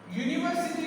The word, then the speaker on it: university: Because if we read university, university, U, university, U. The sound of U is U. Why? University. Why? Y sounding Y. And Y is a consonant sound.